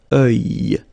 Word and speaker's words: œil: Strange combination of vowels here, okay, and then you will get the sound and then y. Œil. Alright, and it's masculine, by the way. Un œil.